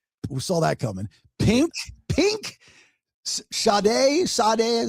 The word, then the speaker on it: Sade: Pink, Sade, is how you say that? Sade, yeah.